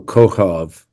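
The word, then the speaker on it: כוכב: The first K is on the right, looks like a backwards C, and it has a dot in it, so it's pronounced K. The same letter two to the left does not have a dot, so it's pronounced H.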